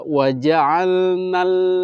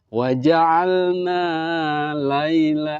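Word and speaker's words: وجعلنا الليل: Jadi bacanya adalah waja'alnal, langsung masuk ke lam, tidak waja'alna laila. Nah, itu jangan dipanjangkan walaupun di situ ada alif mati mad tabi'i, tetap ketika ada tasdid dia langsung masuk.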